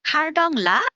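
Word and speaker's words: Khardung La: রাস্তার তালিকায় এসেছে ভারতের খারদুংলা রোডের কথা। প্রায় 39 কিলোমিটার দীর্ঘ এই রাস্তা ভারতের জম্মু ও কাশ্মীরের লাদাখ অঞ্চলের একটি পর্বত পাস। এর স্থানীয় উচ্চারণ খারডংলা বা হার্ট জংলা এছাড়া খারদুমলা রোডটি ঐতিহাসিকভাবে গুরুত্বপূর্ণ।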